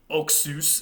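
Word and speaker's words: ὀξύς: this other greek group oxy oxus is how they would have pronounced it in classical greek which means sharp it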